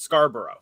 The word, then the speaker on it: Scarborough: named after Scarborough but we pronounce it Scarborough like we we go really hard on the on the r and both O's in it foreign top looks